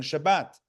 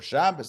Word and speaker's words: Shabbat: the day of rest, regarding the Sabbath, regarding Shabbat or Shabbos, depending on your preferred pronunciation.